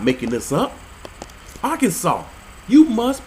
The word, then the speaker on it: Arkansas: per the state code the only acceptable pronunciation is in three syllables are can saw getting some help here